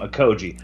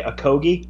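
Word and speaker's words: Okogie: on a Koji and I like how you say his name a koji I say to Cody as well I hear people say a Kogi but a Koji um and I thought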